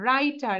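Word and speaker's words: writer: আই টি ই আর রাইটার এখানে ডব্লিউ টা silent থাকবে সাইলেন্ট মানে হচ্ছে উচ্চারণ হবে না ডব্লিউ টা রাইটার রাইটার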